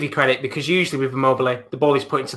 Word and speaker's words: Immobile: Immobile.